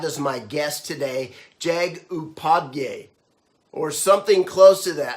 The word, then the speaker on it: Upadhyay: I'm so excited to have as my guest today, Jagdish Upadhyay, or something close to that. How do you say it? Yeah, it's Upadhyay. I think you got it right.